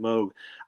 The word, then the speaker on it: Moog: any way you wanted, but he the family pronounced it Moog.